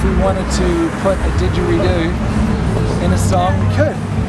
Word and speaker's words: didgeridoo: Didgeridoo. Didgeridoo. Yeah, you got it. Didgeridoo. See, I was saying like dingaroo.